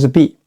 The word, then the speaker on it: 璧: Pero el primer carácter, bì （璧, bì）, se pronuncia bì.